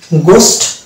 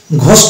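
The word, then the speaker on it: ghost: গোস্ট, ঘোস্ট না, আমরা অনেক সময় ঘোস্ট বলি, এটা হচ্ছে ভুল উচ্চারণ, তো এটা হচ্ছে গোস্ট, এবং এটা হচ্ছে গার্কিন, নট ঘারকিন, ইট ইজ এ গার্কিন।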